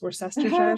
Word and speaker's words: Worcestershire: of I never know how to say this, Worcestershire sauce. Worcestershire sauce.